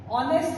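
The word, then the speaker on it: honest: आपको पता है ऑनेस्ट है वो भी कंसोनेंट से स्टार्ट हो रहा है। एच बी लेकिन जब इसको हम प्रोनाउंस करते हैं जब इसको हम बोलते हैं तो उसमें आवाज वोवेल साउंड की आती है।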